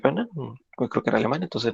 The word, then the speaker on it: Wegener: esto es Alfred Wegener, me parece que se pronuncia Wegener, creo que era alemán, entonces no sé si lo pronuncio bien.